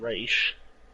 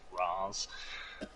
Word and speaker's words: Ra's al Ghul: It's Dark Side and Raish, sir. Don't listen to those Nolan films lying to you, telling you that it's pronounced Raz.